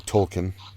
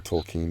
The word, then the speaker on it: Tolkien: Orcs are something that's kind of stolen from Tolkien, or Tolkien, depending on how Say its you name.